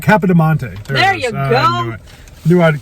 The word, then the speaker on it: Capodimonte: It starts with a C. Yeah, it's K. I just can't pronounce it. Capodimonte.